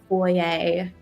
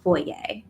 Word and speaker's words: foyer: It is a wide sweeping foyer and yes you have to pronounce it like that. This type of room is called a foyer, not a foyer, with two large sweeping staircases.